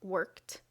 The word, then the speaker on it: worked: Ed can be pronounced like t, as in worked.